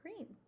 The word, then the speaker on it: Greene: That's Greene with a silent E at the end, and I just moved here from China.